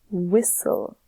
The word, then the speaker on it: whistle: makes which is the because the h is silent just like in these words here with whistle remember the thing here is silent so we say whistle okey-dokey let's go to